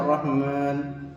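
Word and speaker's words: الرحمن: Pengucapan ro bertasdid tidak terlalu jelas R-nya, dan pengucapan ro-nya harus tebal ya.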